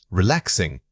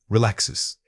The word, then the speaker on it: relaxes: Relaxes. A frequent error when speaking under pressure is omitting the final consonant cluster. When you say relaxes, make sure that distinct sound at the very end does not fade away.